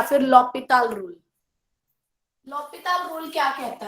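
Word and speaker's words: L'Hôpital: Now next is द एल हॉस्पिटल rule, that is द लॉपिताल rule. Actually pronunciation इसकी लॉपिताल rule है।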